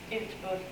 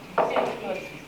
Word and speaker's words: Utbult: In Swedish it's Utbult, so it doesn't sound like English. Utbult. Utbult.